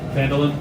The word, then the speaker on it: Phandalin: Yeah, Phandalin, yep. Yes, it is. The one that I never knew how to pronounce.